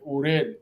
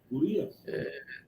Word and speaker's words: Urías: y viendo a cruzar, vio la esposa de Uriel, right? Así se pronuncia el nombre de él. Am I saying it right? Urías.